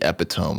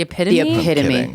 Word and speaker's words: epitome: It's the epidome of mispronounced words. What? The epitome.